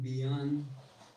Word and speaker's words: beyond: Mira que hay una Y o una Y, pero la pronunciación es como si fuera una I muy suave. Beyond. Como ya tenemos la palabra be aquí, o bueno, esta sílaba be, no necesitamos agregarle otro sonido a esta Y y vamos a decir beyond.